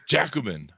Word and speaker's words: Jacobin: me on the pronunciation of that yeah i butchered it when i started writing for them but it's actually jacobin yeah jacobin i was not close anyway so uh give